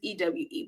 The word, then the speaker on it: Ewe: um in Volta area you may have the e right um or a lot of Americans will say e because it's ewe but it's pronounced e so each region has their people